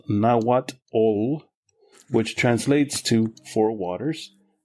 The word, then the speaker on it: Nahuatl: The nations of this area spoke a common language family called Nahuatl, pronounced Nahuatl, which translates to four waters.